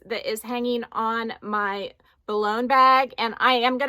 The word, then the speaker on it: Boulogne: way to say it at least according to the French pronunciation online that I found but anyway I got